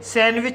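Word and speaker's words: sandwich: इसी तरह से सैंडविच सैंडविच में पहला सिलेबल एन डी से समाप्त हुआ है और दूसरा सिलेबल कसोनेंट डब्ल्यू से शुरू हुआ है। इसलिए डी साइलेंट रहेगा। इसलिए इसे सैंडविच पढ़ा जाता है।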